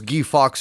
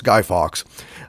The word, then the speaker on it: Guy Fawkes: doc yes yes indeed a G Fox night or Guy Fawkes night is actually yes the proper way to pronounce it some guy told me it was geef ox years ago but that would have been if he was French and he was not French therefore it's Guy Fawkes and I hesitated when